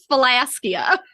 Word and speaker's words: Phylaskia: added to philactory yes same same concept it's philaska I can't wait for that